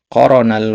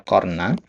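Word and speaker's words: قرن: Bal innahu jalla waala qoronal wasiyata. Jadi qorona di sini tadi antum bacanya qorna ya. Jadi sebenarnya ini fi'il madi ya.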